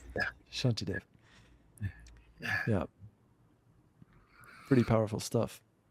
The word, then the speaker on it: Shantideva: That was from this Buddhist principle, Shantideva. How do you say it? Yeah, yeah, close enough. Shanti Dave. Yeah, Shantideva.